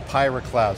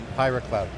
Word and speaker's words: PyraCloud: So I got to ask you guys, what is the Pyra Cloud? SoftwareOne has a platform, Pyra Cloud.